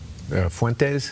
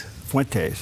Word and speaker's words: Fuentes: Fuentes. Fuentes. Yeah. It doesn't It's not spelled like that.